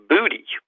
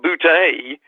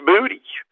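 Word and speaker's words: Boutte: booty yeah so it's it's actually not bootay but it's booty so i don't know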